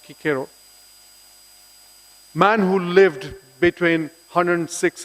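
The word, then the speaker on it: Cicero: quote to you from marcus kikero pronounced kikero man who lived between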